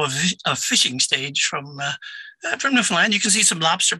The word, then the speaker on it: Newfoundland: So, Ken, did I pronounce Newfoundland correctly? Newfoundland, yes, sir.